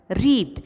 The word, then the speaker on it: read: रीड अभी READ spelling तो दिखती है लेकिन इसकी रीडिंग जो होती है वो RAD रेड ऐसा की जाती है. रीडिंग का V2 फॉर्म है रेड लेकिन स्पेलिंग सेम रहेगी READ. वॉच्ड देखा, कट काटा एंड